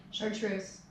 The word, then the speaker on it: Chartreuse: Chartreuse. How do you spell that?